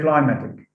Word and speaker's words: climatic: say climatic it's climatic now what happens here is that because of the influence of the suffix ic stress is shifted from the first syllable to the second syllable in the in the stem so we say climatic